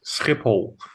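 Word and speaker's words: Schiphol: Wait, is it Shipple or Skipipool, right? It's it's Skipipole.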